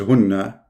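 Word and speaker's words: هن: In fact, the correct reading is hunna, not hinna.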